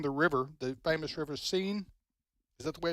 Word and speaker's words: Seine: teams coming down the river, the famous river Seine. Is that the way it's pronounced? Seine River, yep.